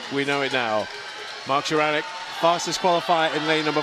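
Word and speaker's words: Szaranek: I've been getting it wrong for so many years now, and finally somebody's come up to me at Tollcross and said it's Sharanek, Bob. Sharanek, right, we know it now. Mark Sharanek, fastest qualifier in lane number 4.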